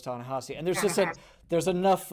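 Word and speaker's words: Thanasi: tanasi tanasi because I I read it as tanesi and I know it's tanasi and there's just there's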